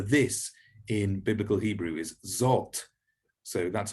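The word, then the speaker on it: זֹאת: one a bit easier it's like english o like in the english word hot so the word for this in biblical hebrew is zot so that's how you pronounce that zot and as i go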